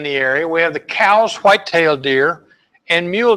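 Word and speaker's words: Coues: hear people pronounce it coups but they were named for an early naturalist Elliot cows and he pronounced his name cows so I'm GNA pronounce it cows some of the differences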